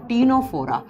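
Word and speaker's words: Ctenophora: सबसे पहला जब हम देखो सी से लिखा जाता है लेकिन इसको प्रोनाउंस करते हैं तो टी से करा जाता है टीनोफोरा।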